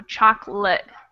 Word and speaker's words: chocolate: This A kind of becomes a schwa sound. So chocolate. I eat chocolate. And of course, this is one of those words that the second O gets cut out entirely. We just throw it away.